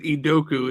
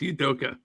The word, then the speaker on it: Udoka: shaking your head because you said idoku it's udoka yeah who cares